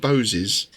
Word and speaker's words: Boz: And Boz was actually originally pronounced Bose, so that fits in with the Boses thing.